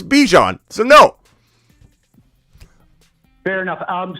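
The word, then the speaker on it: Bijan: I have no time to go watch somebody that mispronounces Bjon Robinson. That's the LA That's the last person I'm worried about. Somebody that says Baijan. If someone says Baijan, I'm not looking at their channel. I don't have any interest in trying to worry about where they're headed. They're headed to the to where? I don't know where, but they can't even pronounce Bejon.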